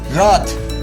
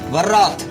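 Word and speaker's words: wrath: इसका सही प्रोनाउंसिएशन है रॉथ, ना कि वर्रॉथ।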